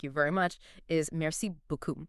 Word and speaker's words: beaucoup: So in French, thank you very much is merci beaucoup, right? B-E-A-U-C-O-U-P. Right. Beaucoup. But the way I sometimes, or mispronounce that last bit, the coup, it comes out sounding exactly like merci beaucoup, C-U-L.